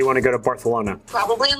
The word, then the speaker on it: Barcelona: wanting to fly to Barcelona do you mean Barcelona Barcelona it's how the locals say it actually um I should